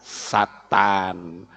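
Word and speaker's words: שטן: Ya, Shin Tet Nun dalam teks Ibrani membacanya Satan, bukan iblis ya.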